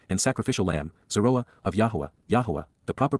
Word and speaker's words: Yahowah: And, to whom, Almai, has the Zeroah, strong arm, protective ram, and sacrificial lamb, Zeroah, of Yahowah, the proper pronunciation of the name of Eloah, God as